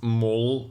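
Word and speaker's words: mål: Danish follower that the the a with the with the um circle on top is pronounced oh is this true in Sweden too so is it is it mole I try to try to learn this for uh for name pronunciations obviously okay yeah okay so it's small well but uh it's mole for um the goal is it or for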